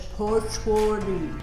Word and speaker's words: Pozzuoli: You have to say it like this, Pozzuoli.